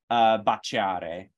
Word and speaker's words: baciare: And then same thing with like modifying a C, baciare. The E is not pronounced at all. It's just making that C a ch sound.